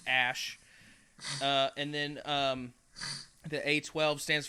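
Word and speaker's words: Æ: And then AE is pronounced Ash.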